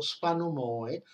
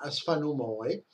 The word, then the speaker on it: Sfanomoe: Nel caso di Smith, si è limitato a questo Sfanomoe, no? Che è per dire che non si pronuncia Sfanomo, ecco, ma Sfanomoe, che poi è il nome con cui i poseidonici chiamavano il pianeta Venere.